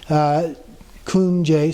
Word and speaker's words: kunjed: And J-E-D, the D is not pronounced, kunjed, so the J is a verb meaning to do or to act.